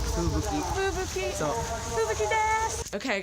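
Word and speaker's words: 吹雪: Fuyuki. Fubuki.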